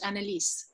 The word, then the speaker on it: Annelise: is, first of all, I changed the syllables. Like I had 3 syllables of her name, and then one of my proofreaders called and said, actually, if you pronounce it in the German way, it has 4 syllables. And I was like, oh no. I've never heard it said in German. I've only ever heard the French Annelise.